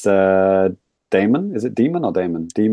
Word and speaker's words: Daemon: It's Daemon. Is it Demon or Daemon? Demon. I think it's supposed to be pronounced Demon.